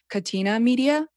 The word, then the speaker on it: Catena Media: And I think you moved there because of, I want to say this correctly, is it Catena Media? It's actually the good pronunciation.